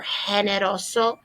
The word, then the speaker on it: generoso: have an alternative word a lot of people don't like to use this one because they don't like to pronounce that g you can do it as an h if you prefer generoso generosa and so we